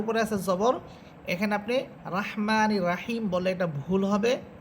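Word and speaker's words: الرحيم: করি তখন আমরা বিসমিল্লাহির রহমানির রহিম পড়ি, তো সেখানে যদি আপনি পড়েন যে বিসমিল্লাহির রহমানির রাহিম, আপনি পড়লেন রাহমানির রাহিম, এটা ভুল উচ্চারণ। এখানে রয়ের উপরে আছে জবর, এখানে আপনি রাহমানির রাহিম বললে এটা ভুল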